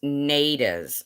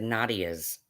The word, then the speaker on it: Nades: say it wrong oh it's nades i said nadias did not my bad either